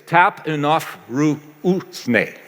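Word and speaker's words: ταπεινοφροσύνη: You can, phonetically, it's tap enough ru usne.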